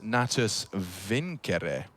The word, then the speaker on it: Natus Vincere: Regarding if we are saying Na'Vi's full name and want to say it correctly as in the Latin, it's actually pronounced Natus Vincere.